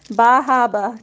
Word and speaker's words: Bar Harbor: It says Bahaba. Bahaba. Cuz that's how they pronounce stuff where I live.